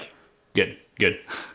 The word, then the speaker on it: Kveik: How do you pronounce Kveik. it, Max? Kveik, right? Kveik. Good.